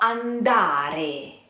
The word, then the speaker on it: andare: Vo andare. You try. Let's divide into syllables. Vo andare. You try. Careful with the R. Re. You try. An da re. Andare.